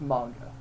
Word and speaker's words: manga: gonna correct you here it's generally pronounced manga oh man game actually